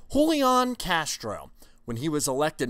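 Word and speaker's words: Julián: Castro hey everybody I'm holy on castro pronounce the J like an H holy on Castro when he was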